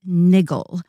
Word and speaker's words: Niggle: and this story is called leaf by niggle which rhymes with giggle but david maybe you